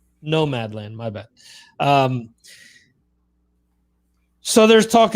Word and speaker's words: Nomadland: the same rig that she used to shoot Nomad's Land. Yeah. So, what's the name of the movie? Did I say it wrong? Nomadland.